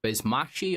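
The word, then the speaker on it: Basmachi: He actually went off to fight in the Bizmashi, I believe it's pronounced, rebellion in Central Asia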